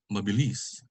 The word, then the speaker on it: mabilis: just like this one the accent is on the last one mabilis poke and this one is